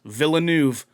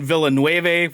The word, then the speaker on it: Villeneuve: apparently is how i found out it's actually pronounced villeneuve after all this time we've done villanueve we've done villanav we've definitely it's barely just